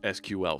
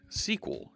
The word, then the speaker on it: SQL: you use an end a stool penner goes SQL server yeah say the programming language isn't sequel its SQL see Wikipedia was initially called sequel